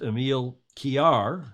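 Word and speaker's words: Emil Kiær: of the show and his name is emile kiar is how that's pronounced more or less in danish gordon smith will correct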